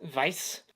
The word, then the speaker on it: Weiss: one is directed by martin weiss or as a dreamers we pronounce it vice and because as a